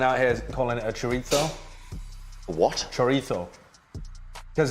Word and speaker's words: chorizo: here calling it a chorizo what chorito because in spanish the i think the zed is pronounced with a fur sound really useful i think